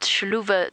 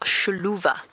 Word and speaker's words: Xiluva: u v a sha so the sh sound I'm not pronouncing it 100% correctly but the x is a sound in the local language and as I said